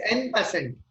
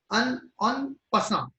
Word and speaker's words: en passant: that is n%. N%. That is what I pronounce. No? Its pronunciation is in French. It's a French word. En passant. It is called. It is pronounced as en passant.